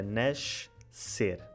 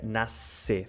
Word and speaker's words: nascer: maior parte do país, o som SC, tipo o som nascer, originalmente era nascer, não é? No Brasil fica nascer, fica sempre S.